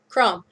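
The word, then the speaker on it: Chrom: Crom.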